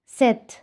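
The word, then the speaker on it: 셋: করছি আপনারা বুঝতে পারছেন আমি কেন লাস্টে ত উচ্চারণ করছি কারণ এটা রুলসে আছে যদি এই কনসোনেন্ট গুলো যদি লাস্ট কনসোনেন্টে থাকে যেটাকে বলা হয় মানে হচ্ছে এই যে এক দুই তিন এই যে লাস্ট কনসোনেন্ট যদি থাকে তাহলে সেটার উচ্চারণ টি এর মত হয়ে যাবে আমি আমার ভিডিওতে আমি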